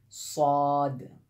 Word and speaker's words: صاد: دیکھیے غور سے سنیے، صاد، صا یہ ساؤنڈ نکلتا ہے، اور اس کے بعد